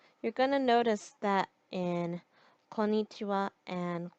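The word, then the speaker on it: こんにちは: in another video but just know that the reason why the wall part of konichiwa and konbanwa looks like the hiragana ha is because it is a particle so that's all I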